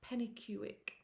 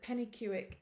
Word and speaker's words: Penicuik: And Pennycuick, it's a place in Scotland. It's a Scottish place name. It's spelt Pennicuik. I think I've got that right.